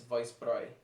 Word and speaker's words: Weissbräu: pronouncing some of these i've always thought that was pronounced brow because you know we just say around here in the states like hofbrau for example but it's uh apparently it's vice prey so that's what i'm pronouncing it here it's from the